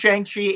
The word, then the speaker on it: Shang-Chi: It's Shang-Chi and will always be Shang-Chi, and you can't change it from being Shang-Chi no matter what you say, because that's always what it was.